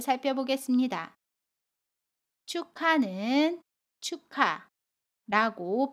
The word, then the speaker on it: 축하: 바램 해요 연음 이라고 합니다 그래서 입학을 이라고 발음 해요 입학을 마지막으로 축하해요 에서 축하를 살펴보겠습니다 축하는 축하 라고 발음 해요 아침 기억이 다음에 오는